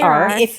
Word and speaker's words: Sarah: That's how you pronounce it. Sarar. If you grew up where my parents grew up, you might also call you Sarah. It's just how you pronounce it in certain areas of New York City.